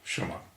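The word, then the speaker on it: 什么: Shun is normally compounded with ma or m. Technically it's ma, has no tone, and it's usually just pronounced m. So adding ma, which is a very simple character again, 1, 2, 3. Adding that to shun, we have what. What, for asking questions. Shumma. Just a shumma.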